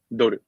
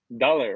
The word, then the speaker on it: dollar: Dollar, right? You pronounce like dollars. Dollars. Yes. $1, $5. Yes. $1. So when I first started learning English, I say dollar or something, because we say doru in Japanese.